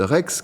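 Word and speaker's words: REXS: Ça se prononce Rex donc comme un petit chien mais sauf que ça va s'écrire re CSS.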